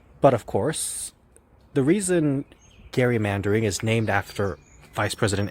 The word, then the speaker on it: gerrymandering: It's actually gerrymandering. Gerrymander. Why? Because it's named after Elbridge Gerry and salamander. So you put Gerry and mander together and you get gerrymander, gerrymander, and of course